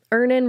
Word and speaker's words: Earnin: Download Earnin on the App Store or Google Play, spelled like earning money without the G.